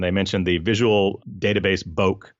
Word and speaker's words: Bokeh: mentioned the visual database Boake I think if that's the only wrong pronunciation bouck it's not foci okay that's fine yeah